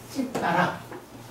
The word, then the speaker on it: citta: CITTA지만 이게 발음은 찌빠라.